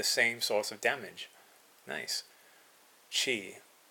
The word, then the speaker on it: Chi: Chi. I know some people pronounce it Ki.